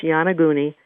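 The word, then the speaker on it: Yonaguni: it for people sure um it's called it's pronounced yanaguni and it's y o n a g g-u-n-i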